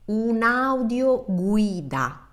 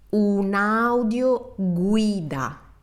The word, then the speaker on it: un'audioguida: So slow down and pronounce each vowel like they were self-standing, separated. Take your time and you will have the perfect Italian pronunciation. So let's repeat this word together. Un'audioguida.